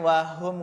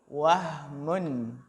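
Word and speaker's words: وهم: bukan wow Polytron Hai bukan wahum Wali tetapi wahmun wahmun wahum sama wahmun hampir sama yang bertanya Hai Hah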